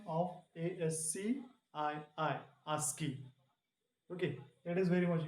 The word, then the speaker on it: ASCII: This is the pronunciation of ASCII, ASCII.